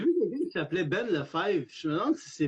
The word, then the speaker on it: Lefebvre: Si c'est Ben Lefebvre, c'est pas l'humoriste. Okay. Tu prononces le B dans ce temps-là.